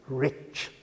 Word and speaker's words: rich: We pronounce the ch as if there were a t before it. We say rich.